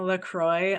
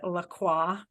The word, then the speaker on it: LaCroix: when I went so hard on you for pronouncing Lacroix LaCroix it's LaCroix it but it you know